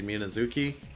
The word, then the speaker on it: Minazuki: same way he does he says minazuki and I say minazuki but uh the way I say is the way that a Japanese name would be pronounced you give each syllable equal emphasis that's how Japanese is it's not an English name I wanted to meet